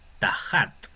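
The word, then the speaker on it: תחת: Tenemos ahora tajat. Tajat sería debajo, debajo de. Aquí se nota en esta palabra, se nota bien la diferencia entre la tau y la het.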